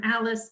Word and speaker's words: Alys: So it's it's like Grayton Beach, Alice Beach. It's ALYS is how they spell that.